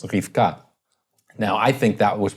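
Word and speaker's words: רבקה: We get Rebecca from kind of the Septuagint which has as rho epsilon beta epsilon kappa kappa alpha, right? Where it's literally re-be-cca. Right? Whereas in Hebrew it's just two syllables, Rifka.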